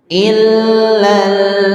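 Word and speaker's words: إِلَّا الَّذِينَ: In illah ada tasydid. Cara membaca tasydid kita sudah pelajari ya. Caranya adalah disukunkan dulu ya. Il sukunkan dulu sebelum dihidupkan hurufnya. Ilal sembari ditekan hurufnya illalladzi. zi. Jadi kalau tekan itu berarti berat rasanya maksudnya ee ditekan tuh berpindahnya huruf itu berat. illalladzi gitu tidak ringan illalladzi illalladzi nah itu kurang ditekan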